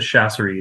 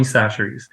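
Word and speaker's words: Chachere's: it called Tony we we pronounce it chasser but that's not actually how you're supposed to say it but Tony saseries um that is kind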